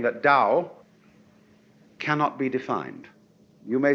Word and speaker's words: Tao: decide how it's pronounced we should have spelled it D you see but it's t and this character here